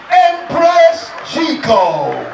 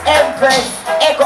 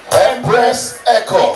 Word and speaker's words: Empress Eko: She is the one and only Empress Chico. Empress Chico. Make some noise! Like that smile. I love your smile. Empress Chico. It's Empress Echo.